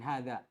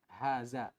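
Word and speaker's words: حاز: Ushul dan saya keliru saya membacanya dengan hadza menjadikan taukid dari aljami' dan itu ternyata keliru ya ini yang benarnya Haza pakai zaai bukan pakai dza dan bukan pakai Ha Tebal pakai ha Haza ya kan kemarin saya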